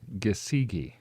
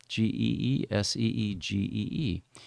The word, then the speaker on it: Gesige: Yes, and, so it's going to be Jordan Gesige. Gesige, okay. Geeseegee.